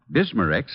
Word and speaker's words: Bismarex: And finally, Bismarex leaves a soothing protective covering on irritated stomach membranes. Well, I'll have to remember that. Bismarex. Is that how you say it? That's right, ma'am. Bisma-Rex, Bismarex.